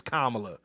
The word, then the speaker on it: Kamala: SP hey stop calling the uh Kamala it's Kamala Camala was a you called the Melissa Ford mispronouncing is totally different than what you were